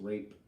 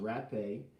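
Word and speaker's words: rapé: as our a PE was not pronounced rape it's called pronounced rat pay and you can look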